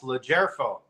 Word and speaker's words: LoGerfo: The G is soft. That's why it's capitalized. LoGerfo.